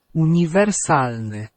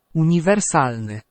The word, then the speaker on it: uniwersalny: And then you've got the I, and the I is like in ski, so it's the E sound. Okay, and of course, just remembering where to stress the word on that penultimate syllable.